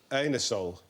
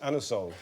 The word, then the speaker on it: Anusol: You can't ask for um anusol in that way in in a shop. You have to pronounce it anosol.